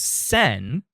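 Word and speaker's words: 千: Takes away one of her kanji, which leaves just only one character, one character which is pronounced transliterated from kanji into English as Sen.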